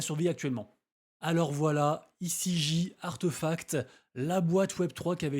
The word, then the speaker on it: RTFKT: Pour faire simple, toutes les activités de RTFKT, qu'on prononce Artefact, sont arrêtées.